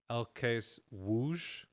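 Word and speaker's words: ŁKS Łódź: l k s l o d z it's pronounced l case whoosh whoosh there you go and it's a very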